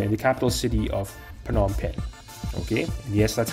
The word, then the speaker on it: Phnom Penh: 5 in Cambodia in the capital city of Phnom Penh okay and yes that's how you pronounce it okay so obviously a lot of